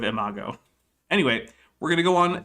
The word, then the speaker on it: imago: don't care enough but i will call out eric for saying emagio instead of imago anyway we're gonna go